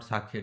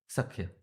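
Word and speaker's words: सख्य: Often Sakhya is mispronounced as Sakhya. It is not Sakhya, dear devotees. It is pronounced as Sakhya with the short A, Sakhya.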